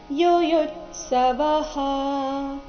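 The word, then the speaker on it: ಯುಯುತ್ಸವಃ: ಮತ್ತೆ ತ ದೀರ್ಘ ಬರಬೇಕು ಯುಯುತ್ಸವಹ ಎರಡನೇ ಯು ಮೇಲೆ ಆಘಾತ ಬರಬೇಕು ಮುಂದೆ ಅರ್ಧತ ಮತ್ತೆ ಪೂರ್ತಿ ಸ ಈ ಎರಡು ವ್ಯಂಜನಗಳಿಂದ ಕೂಡಿದ ಸಂಯುಕ್ತಾಕ್ಷರ ಬಂದ ಕಾರಣ ಯುಯುತ್ಸವಹ ವ ನಂತರ ಇರೋ ವಿಸರ್ಗದ ಉಚ್ಚಾರಣೆ ಹ ಅಥವಾ ಹ ಎರಡು ಸರಿಯಾಗಿದೆ ಯುಯುತ್ಸವಹ ಅಥವಾ ಯುಯುತ್ಸವಹ ಮಾಮಕ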